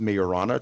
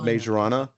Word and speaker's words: Majorana: Microsoft, kind of is probably the big story of the week was now I've heard it pronounced Majorana chip. It's spelled Majorana.